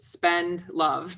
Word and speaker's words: Spendlove: My last name is exactly like it sounds, but people think it's spelled more complicated. Spend love. So instead of spend money, spend love.